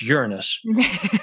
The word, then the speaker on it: Uranus: And it is pronounced Uranus.